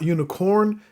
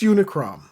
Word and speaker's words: Unicrom: It's not Unicorn, it's Unicrom. It is what it is.